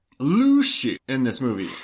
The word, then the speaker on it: Lucy: Uh, how like if you had to phonetically spell the way they say Luci. Uh, I would say L U S H E Y.